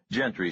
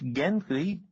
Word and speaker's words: Gentry: Lasky never mentioned any Sheriff Gentry." She gave his name a hard G.